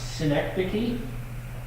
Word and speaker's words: synecdoche: Uh, synecdoche, if you were wondering how to pronounce that, that's how you pronounce it.